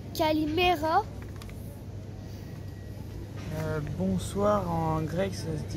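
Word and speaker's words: Καλημέρα: cours de grec alors en grec bonjour se prononce Calimera bonsoir en grec ça se dit kalalispera bonne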